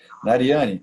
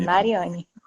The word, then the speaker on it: Mariane: ouvir Sim a alegria Mariane é assim mesmo que pronunciou seu nome e é assim mesmo tá certo Mariane olha muito obrigado por